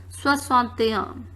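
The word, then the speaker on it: soixante et un: Now here the last we have 61, which is pronounced as soixante-un.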